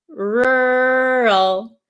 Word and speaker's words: rural: make the sound so this one is really difficult because there are two RS and then an l and i know in some countries um the American R is very difficult to pronounce right so Ral rural please say it out